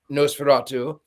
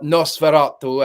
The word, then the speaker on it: Nosferatu: Also, what I find fascinating is that the director in an interview said that he before filming Noseratu or Noserato as it is, someone corrected my pronunciation.